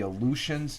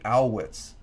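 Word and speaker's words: Alouettes: Montreal team I used to call them the aleutians they're not the aleutians they're the uh owl Whits they're the I pronounced it wrong I kept on calling the Illusions it's the owitz the U is uh is like is pronounced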